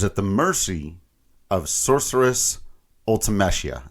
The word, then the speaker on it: Ultimecia: That's how I pronounce it. I've heard some people say Ultimecia, Ultimecia, depending on how you, but whatever, Ultimecia. I don't know. But yeah, fair enough. We can each pronounce it our own way.